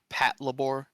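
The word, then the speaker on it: Patlabor: The the robots are called Labormex. So they and it's labor patrol. So Pat Labor, but they all pronounce it in the show Pat Labbor. Pat Labbor because you know it's Japanese that that's just how they pronounce it.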